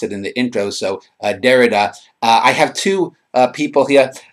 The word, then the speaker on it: Derrida: Jacques Derrida, I've been corrected, is the correct way to pronounce the name. I had mispronounced it in the intro, so Derrida.